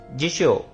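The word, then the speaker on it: 雑誌: means book horn होन जिशो जिशो means dictionary जिशो जाशी जाशी देख रहे हो यहां पर यहां पर रिपीटेड साउंड आ रहा है जा शी जाशी जाशी जैसे कि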